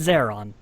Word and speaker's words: Zaron: her name was Sarah it's Zaron pronounced like Sarah almost okay nice to me